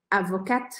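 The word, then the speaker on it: avocate: No feminino, avocat, avocat, eu ponho o E no final e isso me faz pronunciar esse T.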